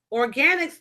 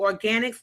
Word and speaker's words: Organix: But maybe if you just Google organics, it's spelled ORGANIX oil.